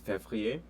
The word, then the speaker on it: février: They might most likely will forget the R after the V. So F-E-V-R-I-E-R. So février, and then also juin is